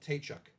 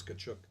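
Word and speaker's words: Tkachuk: ask the players how was your last name pronounced in the beginning he was Walt tchuk oh really yeah and then I I guess eventually somebody or maybe Walder himself said no it's kachuk I'll be darn yeah well uh so again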